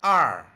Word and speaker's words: 二: 二 Please watch my mouth shape for pronunciation.